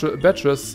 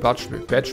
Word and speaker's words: Badge: There's badges, so you gotta equip them. Cool. Spring Jump M. You can now access the badge menu. Badge wird das ausgesprochen, nicht Badge.